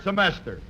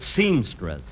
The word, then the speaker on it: semester: This is his third semester. Oh, Phil, say that word again, will you? Semester. Say it once more. Semester. You know, folks, at rehearsal, he kept pronouncing it seamstress.